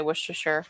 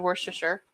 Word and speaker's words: Worcestershire: How do you say Worcestershire? Worcestershire. About a teaspoon of Worcestershire.